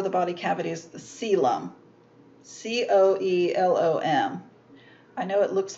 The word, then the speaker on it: coelom: you would pronounce it column but that's not how it's pronounced it's a um the uh the first o i guess is silent let's put it that way so celum now all of the